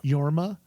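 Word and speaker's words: Jorma: Sisu, the difference would I can't pronounce the actor's name properly. It's Yorma.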